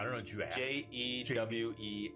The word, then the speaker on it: Jules: Jewel. Okay, so it's spelled like Jules, like Jules. Yes, Not like Julia. but Like her- Jules, not like Jules Verne. No, Not like Jules. no. It's Jewel, and then on the sign it's apostrophe S.